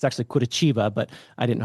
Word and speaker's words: Curitiba: It's actually Curitiba, but I didn't know how to say it.